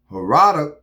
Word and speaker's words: Herodias: So Herodias, how you pronounce her name again?